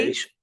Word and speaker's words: creation: Después de la T, cuando tengas una IO, o después de la T, cuando tengas una IA, esta T se pronuncia como si fuera lo siguiente. Sh. Por ejemplo, ¿cómo se dirá creación? Create. Creation.